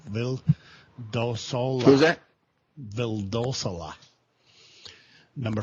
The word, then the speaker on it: Vildosola: I guess Gustavo Villasolo from San Diego. I will never pronounce his name right. Vildosola.